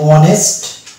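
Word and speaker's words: honest: অনুরূপভাবে এটা হয়ে যাবে ওয়ানার, এটা যেমন হবে আওয়ার, এটা হবে অনেস্ট, আর এটা হচ্ছে ওয়ানার। তাহলে এখানে আমরা দেখতে পাচ্ছি যে এইচ এর মানে প্রোনাউন্সিয়েশন হচ্ছে না।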